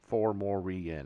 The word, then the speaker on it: fomorian: fomorian formorian four morian four more re-en I would use four syllables it's three it's four syllables four more eaten for